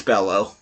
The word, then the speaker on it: Bello: and spanish names that every time i get an american in there with a double i want to pronounce it like a y but it's it's it's bellow you see conrad de